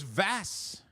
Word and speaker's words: Vass: Like, you decided to flip the letter, but your previous name was Vash, wasn't it? Which is why I've always called you that. Oh, it was Vass.